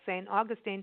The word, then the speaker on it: St. Augustine: It's really fascinating, the attention to detail when you go to places like St. Augustine.